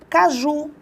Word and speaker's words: caju: A mesma coisa acontece com a palavra caju. Presta bem atenção. Caju é uma palavra oxítona terminada em U.